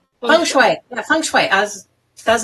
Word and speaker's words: feng shui: How do you pronounce it? Feng shui.